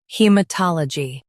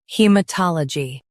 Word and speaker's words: haematology: In the US, stress ta. In the UK, stress tol.